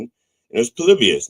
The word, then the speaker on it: Polybius: Like, no, the accepted pronunciation is Polybius, but that's okay.